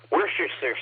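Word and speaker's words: Worcestershire: Number one, the most interesting thing about worerser sauce, other than how do you correctly pronounce it, which I believe is worst sauce, even though they added it's like all those other British town names, Lyster, which is like Lester or whatever.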